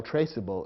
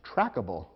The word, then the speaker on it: traceable: the resulting word and if you eliminate the silent e from traceable the word might look as though it should be pronounced trackable which would be incorrect